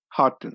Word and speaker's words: Houghton: Okay, and today on the O'Connor Bootstrap podcast, I have Harrison Houghton. Houghton, did I say that close? Again with me? You're getting better. It's Houghton.